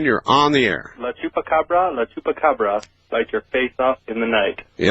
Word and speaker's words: chupacabra: Yes, one thing about the chupacabra, if I'm pronouncing that right. Chupacabra, sir.